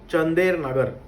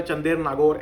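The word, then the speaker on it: Chandernagore: To come up एट चंदेर नगर, ठीक है, चंदेर नगर, चंदेर नागौर, एनी हाउ यू can pronounce, but इसका Indian context में जो प्रोनाउंसिएशन है ना, यह है चंदेर नगर, ठीक है, चंदेर नगर।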